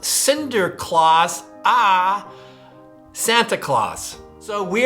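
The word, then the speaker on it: Sinterklaas: of St Nicholas or in Dutch it was pronounced Cinder Claus ah Santa Claus so we are going to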